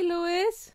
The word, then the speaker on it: Louis: It's Louis because that's my grandfather's name. It's spelled with an S, but it's not.